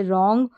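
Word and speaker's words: wrong: सिंग इस तरीके से डब्लू आर डब्लू आर को र पढ़ते हैं क्योंकि आर यहां पर साउंड करता है लेकिन डब्लू साइलेंट रहता है जैसे रॉन्ग और यहां पर देखेंगे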